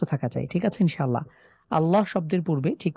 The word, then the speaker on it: আল্লাহ: পূর্বে এখানে জবর রয়েছে তাহলে এখানে আমরা মোটা করে পড়বো যেমন আল্লাহ ল এখানে একদম সোজা